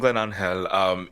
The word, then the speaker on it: GlennAngel: Hello, so I'm GlennAngel. It does look like GlennAngel. I am Dominican American, so I do prefer the Spanish pronunciation. I just feel like it flows a lot easier.